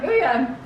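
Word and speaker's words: Wooyoung: So the next member is Ooyoung. Isn't that how you say it? Yes, Ooyoung.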